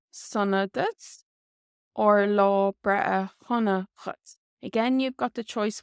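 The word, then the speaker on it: dhuit: And again, you do have the option of putting in a shevu, the letter H after the D here, which would make it Chutz. Chutz. Or you can use Dutz.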